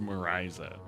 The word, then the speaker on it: Mariza: Because there's a Portuguese singer named probably Marisa, but it's spelled Mariza. Unfortunately, it's pronounced Marisa.